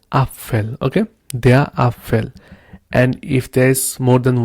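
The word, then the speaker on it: Apfel: a little bit different you don't say upell you say Appel okay then we have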